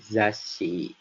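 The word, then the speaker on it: ざっし: Jadi, ada huruf za-nya tadi intinya, dan kita membacanya double S. Jadi, zash, si. Lalu dilanjut ke huruf selanjutnya, yaitu kan tadi ada shi, jadi zashi.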